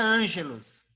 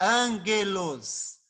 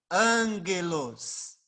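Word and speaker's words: ἄγγελος: transliterar ela para você apesar de tá escrito angelos não se pronuncia angelos é angelos Ângelos tá bom Aqui teria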